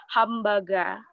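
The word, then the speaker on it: ハンバーガー: Di antaranya seperti hamburger yang diucapkan mirip dengan pengucapan bahasa Jepang seperti hambaga.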